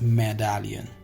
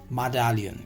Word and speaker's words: medallion: this is medallion right it's not me it's medallion medallion you can say medallion clear a term referring